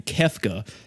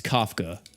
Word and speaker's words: Kafka: name I have to stop myself from saying kefka because I'm a final fantasy nerd so I think of Final Fantasy six kefka but it's Kafka and yeah that uh